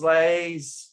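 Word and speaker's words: Laisvė: It's Lithuanian, and it depends on the Lithuanian person you speak to. But one version is Laisve. It almost has 3 syllables.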